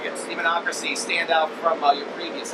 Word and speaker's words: Demonocracy: would you saying makes your latest album uh democracy is that you pronounce it demonocracy yes demonocracy stand out from your previous albums uh it's